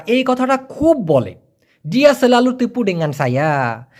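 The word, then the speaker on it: tipu: যেহেতু টিকে মালয়েশিয়ানরা ট এর মত উচ্চারণ করে না। ওরা করে ত এর মত। এইজন্য টিপুর উচ্চারণ হবে তিপু।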